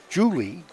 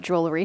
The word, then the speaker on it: Jewelry: Julie, how would you say that? I know. The last time I announced her name, I pronounced it Jewelry too, but it is Tom's Julie. Julie. They dropped the R.